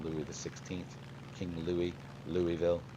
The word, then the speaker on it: Louisville: from Louisville Kentucky actually they say Louisville Louisville Kentucky Louisville it's like two syllables they all just kind of it's like they got a bunch of marbles in their mouth uh I say Louisville